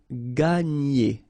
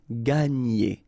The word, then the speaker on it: gagner: And then when you've got this G and N, you get the sound N, okay? And E. So, gagner, gagner, gagner.